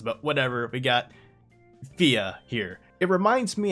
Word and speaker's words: Fia: localized as fear because it's pronounced fia in the japanese and i feel like